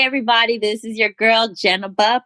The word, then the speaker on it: Jeneba: this is your girl Jenna ba pronounced Jenna but not Ginebra he will say my